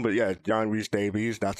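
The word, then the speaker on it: John Rhys-Davies: realize how to pronounce his name but yeah John re Davies that's how you pronounce it so yeah K what were your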